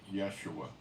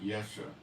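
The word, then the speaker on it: ישועה: I'll pronounce it for you. Yeshua. Not Yesha, the root for salvation.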